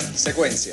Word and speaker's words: Xecuenxia: ¿Cómo se pronuncia el laboratorio de biología molecular? Secuencia. Secuencia. Secuencia.